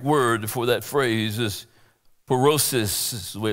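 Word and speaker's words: πύρωσις: trials the Greek word for that phrase is perosis is the way it's pronounced in Greek that word and it means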